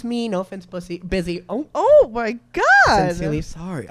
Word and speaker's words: Busy: It's Busy Phillips, who for some reason her name is not pronounced Bussy, but I'm gonna let that slide.